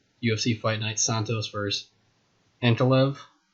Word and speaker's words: Ankalaev: fight night santos versus antolev that's how you say his name for sure kind of hard to